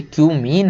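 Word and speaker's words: cumene: केवल कि क्यूमीन से, इसको कुछ और मत पढ़ लेना भाई, ये क्यूमीन है। बहुत सारे लोग समझ रहे हैं क्या क्या पढ़ लेते हैं, है ना, तो इसको वही पढ़ें जो इसका प्रोनाउंसिएशन है।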